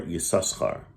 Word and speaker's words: Issachar: So, if you go back in Jewish history, there was a tribe by one of the 12 tribes was Issachar, or Yisachar in Hebrew.